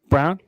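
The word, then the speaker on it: Braun: man um remember his his name is spelled b r a u n but it's Christian Brown it's brown not BR yeah that's no idea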